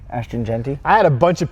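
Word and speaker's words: Ashton Jeanty: Yeah, go ahead and say it for the camera because I always mispronounce his name. Ashton Genty.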